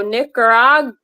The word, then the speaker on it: Nicaragua: So Nicaragua.